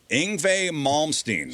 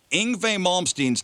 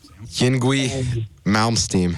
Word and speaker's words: Yngwie Malmsteen: Did any of them pronounce Yngwie Malmsteen's name correctly? Yngwie Malmsteen. 1 down. Yingwie Malmsteen.